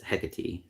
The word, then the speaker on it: Hecate: So the name Hecate, I talked about before. I'm pronounced it like 5 different ways now, but Google says it's the name of the goddess, and it's Hecate.